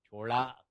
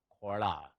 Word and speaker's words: Chola: Chola, Khola, you can pronounce it either way.